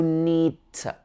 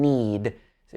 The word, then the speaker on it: need to: two changes to no need to we don't pronounce the last d in need to be no need to